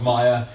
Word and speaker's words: Meyer: Technically Meyer, my surname's Meyer. My dad is German, it's pronounced Meyer. It's not a big deal, but I always say Mayer.